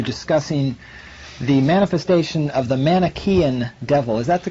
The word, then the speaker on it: Manichaean: You're discussing the manifestation of the Manichaean devil. Is that the correct way to pronounce that? I believe it Manichaean is, yes.